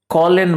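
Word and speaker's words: Kjølen: और अगर आप कॉलन माउंटेन्स को देख रहे हो, कॉलन माउंटेन्स, जो जे है ना उसका प्रोनाउंसिएशन एच रखा जाता है।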